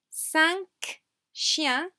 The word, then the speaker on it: cinq chiens: Cinq chiens, here we have the same. K, like in careful, we do pronounce this sound at the end of the word. Cinq chiens.